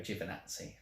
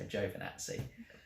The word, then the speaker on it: Giovinazzi: I usually go Giovinazzi, but there is an O in there, so Giovinazzi.